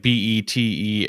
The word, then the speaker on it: Betelgeuse: But so whenever you see his name written in the tiny town, yes, it's written Beetlejuice like the star. Yes. Which is like Betelgeuse.